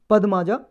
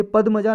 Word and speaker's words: पद्मजा: ये सरोजनी नायडू जी की डॉटर थी, बेटी थी, पद्माजा नायडू। ये पद्मजा नायडू या पद्माजा नायडू, कोई भी प्रोनाउंसिएशन हो सकता है।